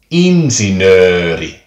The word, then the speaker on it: insinööri: A long sound example of that would be like with the Finnish word for engineer, insinööri, insinööri.